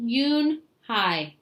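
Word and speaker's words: Unhei: It's pronounced Yunhai."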